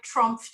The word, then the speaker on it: TRUMPF: They said, if you were trying to describe TRUMPF to somebody, how would you describe us? And I said, the first thing I would do is make sure I pronounce the F.